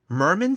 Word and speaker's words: Mermin: They are the Eisner nominated Mermin series. Did I pronounce that correct? The title? Yep. Okay. Yeah, like a merman.